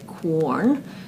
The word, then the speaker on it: Quorn: it is called corn I kind of want to say corn because of the way it's spelled but it's actually corn I think uh now corn is